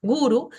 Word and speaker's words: guru: muy fácil es que si una palabra tiene dos sílabas el acento va a recaer siempre en la primer sílaba como en estos ejemplos que están acá guru mantra tantra yoga ahora